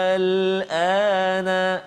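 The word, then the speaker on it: آلآن: Yunus, iaitu ayat dia al-ana, dia ringan saja, mukhaffaf tu dia ringan, dia tu dia ringan, al-ana. Berapa harakat? 6 harakat. Al-ana, itu cara baca dia, maksudnya dia ringan, dia tidak diidghamkan ke dalam huruf selepasnya.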